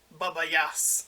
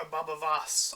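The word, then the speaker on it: Baba Voss: hunting down the children and jason mamo's character baba yas or babavas i should say as his name is pronounced it goes out with his huge weapon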